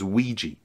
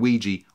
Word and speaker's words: Weegee: had a Ouija board, a word that Arthur pronounced and then misspelt as Weegee, just like squeegee, and it stuck.